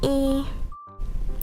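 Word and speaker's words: え: But in Japanese, it's pronounced E. Just like in many other languages like Spanish, German.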